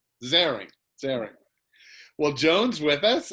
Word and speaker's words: Zehring: again we have jones is it zeroing am i pronouncing that correctly joan zaring sarah well jones with